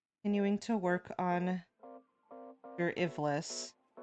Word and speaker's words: Ivlis: Continuing to work on your Ivlis. I keep mispronouncing as like Albus, Iblis, like the Iblis trigger, Sonic, but B,